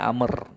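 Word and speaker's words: عمرو: ya itu w W dalam penulisan Amr itu W Lil namanya untuk membedakan antara Umar dengan Amr biar terbedakan Umar Ain mim ro itu Umar bacanya kalau ada wya itu bacanya Amr ya wya itu didatangkan ditulis Lil untuk membedakan antara Umar dengan am ini sekedar selipan bahan biar enggak bingung nantinya ini bacanya Amr ataukah Umar nih kalau ada wauya berarti Amr ya katanya jajulun Abdillah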